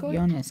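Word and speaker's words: Joonas: draft how do you say his first name jonas got it yeah yeah and so many of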